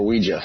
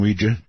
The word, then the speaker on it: Ouija: No more Ouija for me or Ouija. Ouija. All right. Thank you very much for the call. I appreciate it. Yes, I'm I'm quite aware the correct pronunciation is Ouija Ouija board.